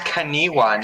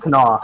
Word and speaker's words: Kanawha: Alright, It's Kaniwa, not Stop. Kanawa. It's actually it's Kanawha. actually Berkshire. Oh my It's Christ. actually East, Brian, it's and actually pronounced Kanawha without any wa on it.